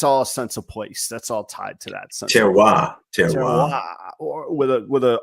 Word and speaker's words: terroir: I'm going to screw it up how to pronounce it. That word is terroir, Terroir.